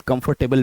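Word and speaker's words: comfortable: कंफर्टेबल लेकिन actually में इसमें तीन सेलेबल्स हैं।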